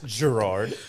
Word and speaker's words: Gerard: It's Gerard. Pronounced with a J.